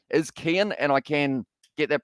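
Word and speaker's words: Cian: And the reason I say that is so that I can say that his name is Kian and I can get that pronunciation worked out.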